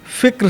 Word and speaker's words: فکر: نے یہی بات کی، فکر صحیح تلفظ ہے اس کا۔ اچھا، ایک اور لفظ